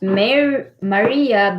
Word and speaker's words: Mary: but it's pronounced as maria but smith but spelled mary what kim said uh but it's pronounced uh maria but spelled mary i don't know it's